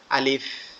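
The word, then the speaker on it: ألف: এটা কিভাবে উচ্চারণ হবে, আমাদের এই নিচের ঠোঁটের দাঁত, এই নিচের দাঁত উপরের ঠোঁটের সাথে হালকা করে লাগবে, লেগে উচ্চারিত হবে আলিফ, আলিফ, আলিফ।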